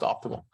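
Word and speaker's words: OptiML: i m l right spelled uh spelled that way and pronounced optimal and uh so it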